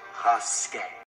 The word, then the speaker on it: Rasket: It's pronounced Rasket.